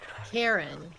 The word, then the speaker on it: Charon: Karen. Oh my god, it's Karen! It is not. Oh, with the CH. It's like Charon, but I think they pronounce it Karen.